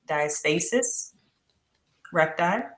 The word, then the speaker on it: diastasis recti: So you can say it 2 ways. Recti. The way that you're saying it, diastasis recti, or diastasis.